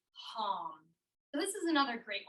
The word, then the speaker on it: Ham: And just like the thing some people like to eat, ham, that's how it's spelled, but we'll say it like hum.